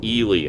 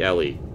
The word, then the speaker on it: Ellie: By the way, in the new movie, they pronounce it Ely, and that was driving me nuts. It's clearly Ellie. It's not Ely.